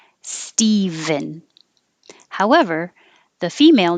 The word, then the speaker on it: Stephen: michelle is female michelle this is steven and it's kind of weird that we can spell this with a ph but it still sounds like a v stephen however the female name